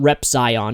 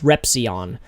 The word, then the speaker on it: Repzion: then Zion um the the Z is silent so it's it's actually not rep Zion it's repon um repon but the